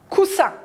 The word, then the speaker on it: coussin: que le s il est entre deux voyelles coussin ce il y à deux aces doubles consonnes